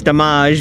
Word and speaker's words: DaMMAge: going to see the damage show in Atlantic City New Jersey at the Trump Taj Mahal Mar it's actually it's Dage because it's spelled D a m m a g and a clever little